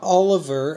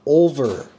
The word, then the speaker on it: Olver: of 200 of Mark olver not Oliver as a lot of people pronounce it it is Mark over 139 out of 200